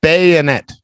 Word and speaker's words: bayonet: And bayonet. Bayonet. Bella. Bayonet. Rudy B. Ruby Dooby Doo. Bayonet. Pita. Bayonet. It's not bayo, it's baya. It's an pronunciation. You see the phonic?